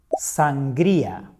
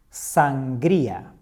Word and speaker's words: sangría: Sangría. Sangría. This is a very popular Spanish drink made of wine, soda, water, and fruits. Remember? Sangría.